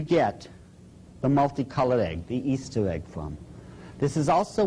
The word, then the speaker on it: Ishtar: A lot of people thought it was Ishtar. But if you check the original transliteration, the Babylonian one, it is still pronounced Easter to this very day.